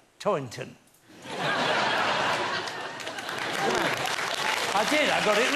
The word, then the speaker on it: Toynton: It's a it's a difficult surname to pronounce with that T sound in the middle, but I think I got it right. Toynton.